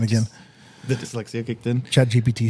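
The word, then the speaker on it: ChatGPT: Chat GPT hit in again. Or GTP. You said it right the first time.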